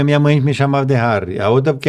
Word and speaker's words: Harry: acertou mesmo não olha porque normalmente o pessoal pronuncia meu nome por causa do Harry Potter e por aí a fora Prince Harry eles pronunciam Harry né Mas eu sou de origem holandesa né e Harry é o diminutivo de né então tem vários motivos para meu nome ser Harry fing eh uma É porque